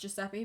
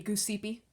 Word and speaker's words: Giuseppe: It's kind of like the name Giuseppe. You don't know it's going to be pronounced Giuseppe, but thought it was going to be Gooseepy.